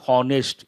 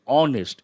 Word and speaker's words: honest: introspection it is not honest it is honest h is silent it takes a indefinite